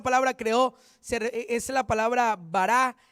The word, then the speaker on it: bará: una palabra hebrea que se escribe bará no barac no bará así B a r a con tilde la última a bará y es una